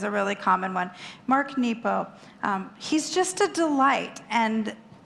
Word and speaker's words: Nepo: Listen by the brilliant poetic and deep Mark nepo and that is how you say his name